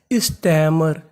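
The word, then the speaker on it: stammer: कहने का मतलब यहाँ पर M हमारा 2 बार है, पढ़ना खाली 1 बार है। और आखिरी में लिखा है ER। ER को हम लोग पढ़ते हैं अर। अगर आपको इंग्लिश में कहीं पर ER लिखा मिले तो उसका उच्चारण हमें अर करना है। और यहाँ पे M 2 बार है, पढ़ना 1 बार है। तो पूरी मीनिंग स्टैमर। स्टैमर।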